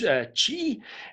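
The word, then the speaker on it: 氣: it could also be the chinese word k.i pronounced chi and that is this circulating life energy thought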